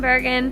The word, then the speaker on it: Bergen: How do you say it like that? Bergen. I don't know if I'm saying it properly, so I'm kind of like self-conscious about it. It's just Bergen.